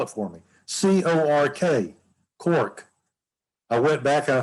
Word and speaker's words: Cork: C-O-R-K, Cork. I went back and I thought, that's Cork, not Cook.